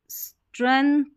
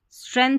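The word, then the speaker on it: strength: तो यहाँ पर देखिए ये पैराग्राफ है, द स्ट्रेंथ, स्ट्रेंथ पढ़ेंगे। यहाँ पर जी साइलेंट है।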